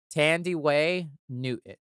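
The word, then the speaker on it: Thandiwe Newton: know she corrected the spell the pronunciation it's pronounced Tandy Way Newton she's in Westworld she's in the second mission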